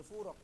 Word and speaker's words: فورك: ابن فورك. ابن فورق. هو فورق ينطق خطأ مولانا.